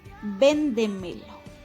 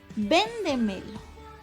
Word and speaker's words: véndemelo: Entonces, véndemelo. Véndemelo. Es una palabra esdrújula. Véndemelo. Palabra esdrújula. Lo, última sílaba. Me, penúltima sílaba. De, antepenúltima. Y ven es la sílaba que está antes de la antepenúltima.